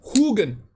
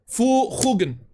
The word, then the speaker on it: Huggins: Huggins is the knife I made. It's pronounced Hugen. Hugen. Maybe I should just spell it that way instead of Old Norse.